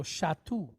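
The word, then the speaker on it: שתו: All right, so we have a shin. Again, mark is on the right-hand side, so we know we pronounce it SH. With the kamatz, sha. Then we have the letter tav, pointed wa with a shuruk, tu. So shatu. Shatu.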